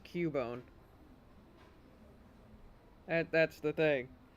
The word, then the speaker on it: Cubone: Well, the thing is, it's actually pronounced Cubone. That's the thing. That's why the CU is Q. It's not Cabone.